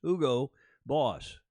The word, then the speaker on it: Hugo Boss: black his longtime sponsor who go boss now Hugo Boss the Germans we pronounce it in Alf Doge Mario Schumann's watching will tell you it's Hugo Boss and they were our outfitter for the McLaren